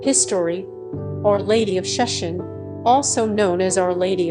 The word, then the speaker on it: Sheshan: May 24 Feast of Our Lady of Sheshan. History. Our Lady of Sheshan, also known as Our Lady of Sos, being Sos the original Shanghai pronunciation of Sheshan, is a celebrated Marian